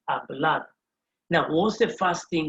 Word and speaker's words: hablar: you almost hear like i'm not pronouncing that h because h in spanish is silent h in spanish island so it's going to be pronounced a blood now what's the first